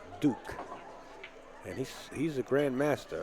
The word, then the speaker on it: Duc: He spells it D-U-C, but it's pronounced Duke.